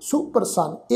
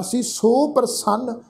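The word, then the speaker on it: ਸੁਪ੍ਰਸੰਨ: सुप्रसन्न शब्द है जी सस्से अखर के पैर विच औंकड़ की मात्रा लगी हुई है, फिर प्रसन्न शब्द है। सुप्रसन्न इकट्ठा पाठ उच्चारण करांगे, सुप्रसन्न। इस शब्द का पाठ सी सो प्रसन्न, इस ढंग नाल पाठ उच्चारण नहीं करना, क्योंकि सस्से अखर के पैर विच ख्याल रखो औंकड़ की मात्रा है, औंकड़ की मात्रा का ही पाठ उच्चारण करांगे जी।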